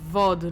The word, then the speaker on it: VOD: heavy uh do i it's pronounced vod like pog don't tell me what